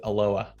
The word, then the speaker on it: Aloha: that on a map we pronounce it aloha okay and last on